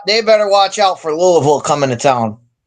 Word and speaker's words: Louisville: Deeds is all the way east, but I get corrected when I mispronounce Louisville when I should say Louisville. 13 and a half point favorites. Louisville.